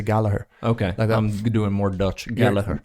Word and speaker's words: Gallagher: this is one where in the UK they'll pronounce it as like Galleria you know if you're from Liverpool like Gallery yeah but in Ireland